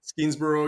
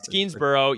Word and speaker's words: Skenesborough: And even though they were just absolutely brutally humiliated at Ticonderoga, you have the Battle of Hubbardton and Skenesborough. Am I pronouncing that correctly? Skenesboro, yeah. Skenesborough.